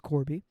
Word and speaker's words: Corbiey: not uh not Joe his real name is Corby did I say that correctly yeah okay yeah you did you pronounced your father's